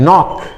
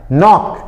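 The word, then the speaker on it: knock: नॉक। इसमें के silent रहता है। नॉक।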